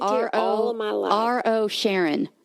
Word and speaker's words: Rosharon: R-O Sharon. Rosharon. Rosharon? Just because it's spelled that way doesn't mean that's how I pronounce it.